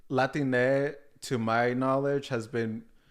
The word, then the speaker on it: Latine: like the gender neutral correct terms to Latino Latina so there's Latino Latina then there was latinx